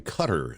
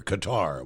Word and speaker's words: Qatar: is going to be in Cutter this year the middle East Country cutter Qatar whichever you want to pronounce it and if you're headed